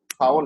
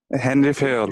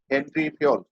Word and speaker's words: ফেওল: ফাউল না, হ্যাঁ, হেনরি ফেওল। ফিয়োল। হ্যাঁ, ফিয়োল ফিয়োল। হেনরি ফিয়োল। হেনরি ফেওল। হ্যাঁ, হেনরি ফিয়োল বললেও হবে, হেনরি অথবা হেনরি ফিয়োল।